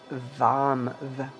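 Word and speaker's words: वं: And the one syllable Sanskrit mantra is Vam, with a V.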